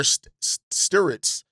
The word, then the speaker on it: Stirtz: So Bennett Stirtz, or Stirtz, I believe is how you pronounce it, because my brain puts the R before the I when actually it's after the I.